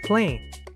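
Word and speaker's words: plane: Estas dos palabras se pronuncian plain, pero ¿por qué? Las dos palabras siguen la misma regla. Cuando hay una vocal muda en la misma sílaba, la a se pronuncia larga, ei. Esta palabra significa claro, sencillo o llanura. La i es muda, así que solo se pronuncia la p, la l, la a como ei, luego la m.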